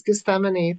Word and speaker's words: Gethsemane: My brain's been pronouncing it wrong. Oh, it's Gethsemane, the Garden of Gethsemane.